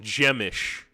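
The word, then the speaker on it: Przemyśl: brand brand Stewart just said it it's it's pronounced gemish wow gemish p r z m Ys L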